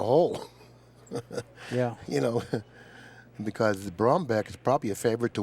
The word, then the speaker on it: Brumback: I keep getting corrected here with the pronunciation of his name. Well, his name is Brumback. I've been calling him Brumback. Do you have a back or a beck? Do you rub your beck or your back?